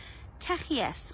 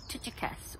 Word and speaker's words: Tychicus: Tychicus, or Tychicus, or however you want to pronounce it, the dear brother and faithful servant